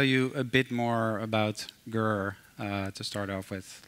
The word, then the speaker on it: Grrr: Like, maybe first the pronunciation, because people do ask me that. Like, kind of depends on my mood. You know, sometimes you need to challenge the status quo and it's more like Grrr.